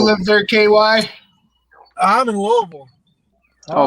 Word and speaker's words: Louisville: Oh, Louisville. Louisville. See. Oh boy. You know he's from Oh, Kentucky because he Louisville. says it right, right? You know he's from Kentucky. He says it right. Only 2 syllables.